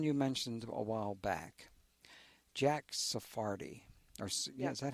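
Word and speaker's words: Jack Sarfatti: But there's someone you mentioned a while back, Jack Sephardi. Yeah, is that how you pronounce it?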